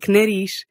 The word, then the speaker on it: nariz: But at the ends of words, if you see a Z, you're going to make an unvoiced SH sound. That gives you words like nariz and raiz.